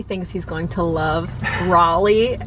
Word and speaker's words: Raleigh: he's going to love raleigh also it's pronounced raleigh not rally i need to learn